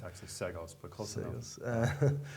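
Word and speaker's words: Seggos: All right, so now we're going to be having a new Environmental Conservation Commissioner, Basil Sigos. Yep. Did I pronounce that right? I think so. I think Okay. it's actually Segos, but close enough.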